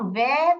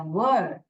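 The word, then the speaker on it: word: और ये इसको हम वेयर प्रोनाउंस नहीं करते हैं. वर्ड वर्ड ऐसे प्रोनाउंस करते हैं. जैसे कि इसका राइमिंग वर्ड लिख लीजिए सर और फर. आप ऐसे याद रख लीजिए. इसका जो राइमिंग वर्ड है सर फर, वैसे वर्ड वर्ड ऐसे प्रोनाउंस करोगे.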